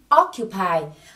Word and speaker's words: occupy: Say it again, occupy. Các bạn chú ý là đây là động từ và trọng âm của nó rơi vào âm tiết số 1, mình nhớ nhấn occupy.